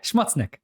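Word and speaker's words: Schmutznik: name now no oh my god what it's shmudznick yeah schmutznick oh my god to be sure like to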